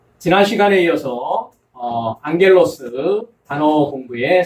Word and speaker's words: ἄγγελος: 그래서 감마 뒤에 카파 또는 감마 뒤에 크시, 감마 뒤에 키 이럴 경우에 앞에 감마를 이응으로 발음한다라는 것입니다. 그래서 우리가 이 단어를 앙겔로스, 그래서 앙겔로스라고 발음을 했습니다.